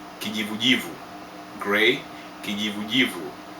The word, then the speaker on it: kijivujivu: Grey = Kijivujivu Kijivujivu, originates from the word'majivu' = ashes, so it is ash color!